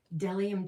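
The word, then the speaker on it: Bdellium: Delium Tools. I think the B is silent, but anyway, this thing is genius.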